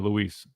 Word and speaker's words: Lewis: Shout out to Lewis, man, or Luis. It should be Lewis, but I do understand, sometimes with some Spanish pronunciation, you got a little bit Luis, but that's more of a Lewis, if I'm not mistaken.